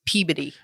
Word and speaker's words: Peabody: is no and also you said it wrong it's Peabody no that's my stupid